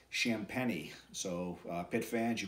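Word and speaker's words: Champagnie: brothers Julian and Justin champeny I talked to Julian today and I wanted to get the uh correct pronunciation on his last name never want to mispronounce somebody's last name and it's shamp penny so uh pit fans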